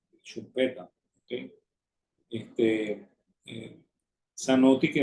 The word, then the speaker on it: Schumpeter: Que así es como se pronuncia, ¿no? En austríaco es Schumpeter, ¿ok? Y en alemán Schumpeter, ¿ok? No es Schumpeter como dice mucha gente, como también decían mis profesores, ¿no?